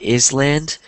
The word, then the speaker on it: island: Um, I know it looks like is land, but it's pronounced island. Island. So the S is silent.